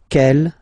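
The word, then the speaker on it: quelle: same way and then the feminine form is written like that q l l but it's pronounced like the masculine form Kell at the masculine Kell at the feminine okay so it's basically same pronunciation okay and then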